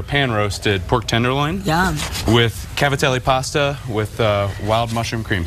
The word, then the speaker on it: cavatelli: We pronounce back east, we say Gavadil. That's like the Italian way.